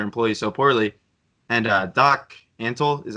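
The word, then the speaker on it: Antle: of treating their employees so poorly and doc antal is how you pronounce it yeah worst I mean oh my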